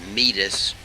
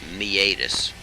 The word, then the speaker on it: meatus: auditory meatus it looks like it would be pronounced meatus but it's me ADIS decubitus ulcers lunula eponym homeostasis pokey low therms